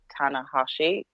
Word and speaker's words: Tanahashi: I mean, I enjoyed the match for sure, and for me, it was the first match of seeing Tanahashi.